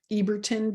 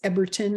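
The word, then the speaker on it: Ebertin: wrong so forgive me I've always said Reinhold eberton but I think it's Everton if it's pronounced correctly German astrologer wrote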